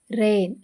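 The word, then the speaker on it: reign: ಇಲ್ಲಿ B silent ಆಗಿದೆ ಆರ್ ಇ ಐ ಜಿಎನ್ ರೈನ್ ಇಲ್ಲಿ ಜಿ ಸೈಲೆಂಟ್ ಆಗಿದೆ ಡಬ್ಲ್ಯೂ ಆರ್ಎ ಪಿಪಿ ಇ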